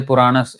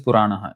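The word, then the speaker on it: पुराणः: You may say Puranas. Hey, that is not Purana. It is Puranaha. You see the word to word.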